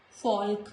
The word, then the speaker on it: folk: Before K also letter L is silent, like stock, chalk, talk, not talk, folk, no.